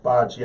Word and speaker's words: Bachie: Defensive lineman Raekwon Williams and linebacker Joe Bachie. Did I say that right? Bocce. I can never remember how to say his name. It's like bocce ball.